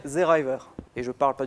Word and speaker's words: Seeraiwer: En alsacien, si on veut le prononcer en alsacien, ça donnerait Zeriver.